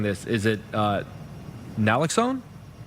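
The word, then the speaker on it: naloxone: Leah, uh you you're recommending that families have and forgive me if I'm mispronounc mispronouncing this. Is it uh nlloxxone? Nlloxxone which is commonly known as narcan.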